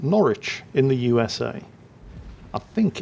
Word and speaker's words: Norwich: on there it looks like that should be pronounced Norwich and that of course is the way at